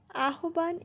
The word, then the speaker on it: আহ্বান: আহবান এর প্রকৃত উচ্চারণ কি? আহবান এর প্রকৃত উচ্চারণ আহ্বান।